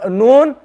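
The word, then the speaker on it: نون: k9 to k9 so for noon the tongue is going to be more up for alarm the tongue was flat so no one is going to be a bit more curved so this one noon again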